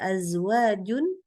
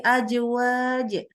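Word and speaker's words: أزواج: ketika membaca huruf-huruf ini contoh situ ada azwajun ya azwaj Jangan jadi azwaj apalagi ajwaj ya Jadi huruf Jim boleh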